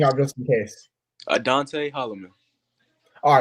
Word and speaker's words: Adonte Hollman: to mess anything up just in case uh dante holloman all right fine that was a lot easier